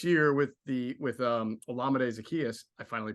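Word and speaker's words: Olamide Zaccheaus: something um this year with the with um olamide Zacchaeus I finally pronounce it right uh brought to the mix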